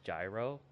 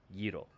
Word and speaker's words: gyro: spelled g-y-r-o and it looks like it would spell it would say gyro but considering you know language barrier it's actually pronounced Giro but yeah they're they're actually really good because